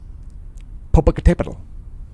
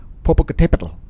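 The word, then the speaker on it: Popocatépetl: everybody say it aloud you can say it poal it's got the accent mark right there on the accented syllable poal so an interesting explosion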